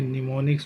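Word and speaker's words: mnemonics: देखिए निमोनिक्स में am silent है, एम मतलब मेमोरी, इजी टू मेमोरी या इजी टू रिमेंबर।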